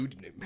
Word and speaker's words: pseudonym: And it's also spelt with a P, which is it throws me off.